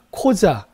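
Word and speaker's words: Қожа: 그게 바로 자라는 겁니다 고자가 아니라 코자 발음 조심해야 돼요 코자 합니다 코자 코자 그다음에 토라는 두 개의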